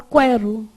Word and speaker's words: quero: Se eu falar quero, esse U é pronunciado? Você fala quero.